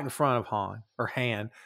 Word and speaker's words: Han: I love that he intentionally mispronounced his name. And Han's like, it's Han, but that's all right. Like, he just lets it go. And then from that point on, it's Han. Because that's how Billy Dee pronounced it, and he refused to say otherwise. It's like, did no one tell him? I've always been curious about that. It's like, you know, it's Han, right?